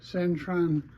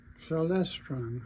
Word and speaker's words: Celestron: You got a Centron uh telescope. Celestron. I'm sorry, pronounced that wrong.